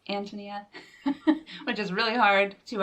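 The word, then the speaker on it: Ántonia: well you can see it has the accent on the the first syllable so it's not antonia and it's not antonia it's antonia which is really hard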